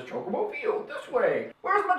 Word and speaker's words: chocobo: chicken's nuts cocoa bowl it's not kokobo i don't want to hear any comments about how it's coke you pronounce it kokobo no it's not it's chocobo be glad i know